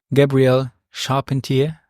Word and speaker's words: Gabrielle Charpentier: Gabrielle Charpentier. Did I say it correctly? You said it correctly.